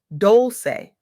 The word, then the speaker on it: Dolce: I'm Dolce, pronounced Doulce, and today I'm electrified to share revelations from